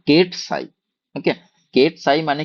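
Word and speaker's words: ket: ওকে, এবার হচ্ছে যে কেটটা যদি আমি এইটাকে বলা হয়, মানে এইভাবে উচ্চারণ করা হয় যে কেট সাই।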